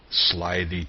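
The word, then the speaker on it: slithy: me how to pronounce slyy toes the eye in slyy is long as in ryth and Toes is pronounced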